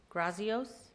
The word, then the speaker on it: Grazios: Grazios. Please forgive me if I mispronounced your name. You did very well, Madam Mayor. Thank you. Good evening, sir. Good evening. Grazios, 9324 Avenel Lane, Port St.